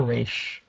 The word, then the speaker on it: Ra's al Ghul: um has man-bat fighting Ra's al Ghul or reish depending on how you pronounce it I usually just go to rads I'm not really sure